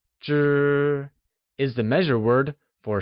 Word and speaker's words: 支: 知 is the measure word for stick-like objects such as pens or chopsticks and is pronounced using a high-level tone.